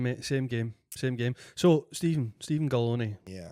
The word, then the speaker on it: Galloni: So, Steven Galloni, Yeah. rhymes with macaroni.